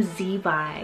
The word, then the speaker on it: Zevi: A cool Hebrew name I have here next is the name Zevi, spelled Z-E-V-I. I really hope I'm pronouncing it right. It's supposed to sound very similar to Levi, but this one's Hebrew originated, meaning deer.